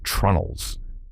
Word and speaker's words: treenail: The fourth secret is treenails, pronounced trunnels.